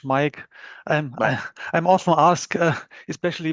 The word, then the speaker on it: Maik: And um yeah, my name is pronounced like the English Mike.